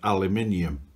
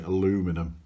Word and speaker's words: aluminium: engine was made of aluminium the americans like to say aluminum because that's how it's spelt and uh our cousins